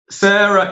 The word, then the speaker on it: Sara: talk to sarah um sarah is it's it's spelled s-a-r-a but her she pronounces her name sarah so if she says